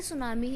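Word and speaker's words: tsunami: देखो चुनाव में को हम पढ़ते लिखते तो टुश नमी है लेकिन पढ़ते सुनामी है ऐसा इसलिए क्योंकि जो रोटी है वह यहां पर साइलेंट होता है ठीक है तो यहां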